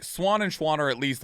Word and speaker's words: Schwahn: a lot instead of Schwann I get Swan a lot and I'm like you know what fine like Schwann is literally just German for Swan there you you said